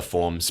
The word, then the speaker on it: PHORMES: know I'm plugging that the forms program a little bit, and that's spelled at PHORMES, because it stands for phonology, orthography, morphology, and etymology and semantics.